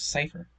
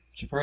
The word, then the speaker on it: Schiffer: I had it was Cypher. Yeah, but apparently it was mispronounced in like Japanese. So it was Schiffer in the anime known as Bleach, and that's where the inspiration for the name came from. Whatever, Schiffer it is.